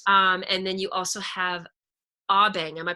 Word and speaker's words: Abeng: And then you also have Abeng. Am I pronouncing that correctly? Abeng.